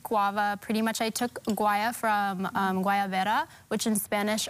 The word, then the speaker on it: Guaya: It's guaya.